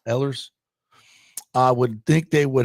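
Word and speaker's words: Ehlers: Ellers, what how do you pronounce that? Ellers. Ellers.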